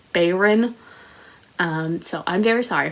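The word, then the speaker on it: Bayron: dead by kailyn bayern which i've been pronouncing baron the whole time because i don't know where i saw that or heard that but i had myself convinced her name was baron but it's bayern um so i'm very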